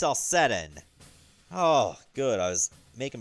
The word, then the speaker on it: Celcetan: Okay, so it's pronounced Celcetan.